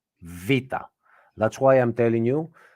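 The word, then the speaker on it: β: should say this um it's not beta it is VA the voice is V and it is one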